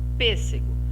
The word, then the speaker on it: pêssego: Agora vamos observar a palavrinha pêssego. Bata a palma aí primeiro, separando em sílaba. Primeira palma, pês. Segunda palma, C. Terceira palma, gó.